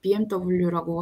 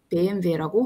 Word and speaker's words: BMW: 그래서 예를 들자면 영어식으로 읽는 거랑 본토 발음으로 읽는 거랑 영어 알파벳을 쓰더라도 발음이 조금 달라요. 그래서 BMW라고 하지 않고 BMW라고 하는 거죠.